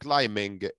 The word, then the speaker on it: climbing: قلنا climbing البي مش بنطقها خالص يبقى mountain climbing.